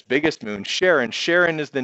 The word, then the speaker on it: Charon: Some people pronounce it Charon, some Charon, doesn't matter.